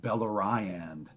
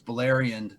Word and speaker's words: Beleriand: I was reading the Silmarillion, I called Beleriand Beleriand. Why wouldn't I? You know Put what I mean? emphasis on the wrong syllable.